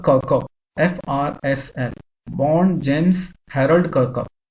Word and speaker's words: Kirkup: This is the pronunciation of the name, James Kirkup.